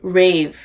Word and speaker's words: Rave: And we've been following Reeve, and is that how you say her name? Loki, I'm gonna use a little pronunciation guide. Rave. Oh, okay.